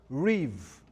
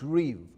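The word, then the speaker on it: ריב: It's pronounced riv, R-I-B. It looks like rib. It's pronounced riv.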